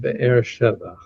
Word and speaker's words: Beersheba: It's because that's the way the Americans pronounce it. Yeah, Beersheba. Yeah. Yeah. It's pronounced Beersheba.